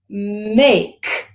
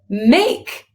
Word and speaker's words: make: may make make now this word spells make the e this is what we call a silent e there are a lot of words in the English language that have a silent E in them that remember how we talked about yesterday that sometimes there's a silent K in the beginning and we talked about the fact that silent doesn't mean quiet it means no sound at all so a silent e